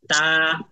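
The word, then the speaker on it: ت: না বুঝতে পারছেন ক্লাসকে আরবিতে বলা হয় দারসুন তাহলে এটা কি দারসুল আহিয়া নাকি দারসুল আমওয়াত বলেন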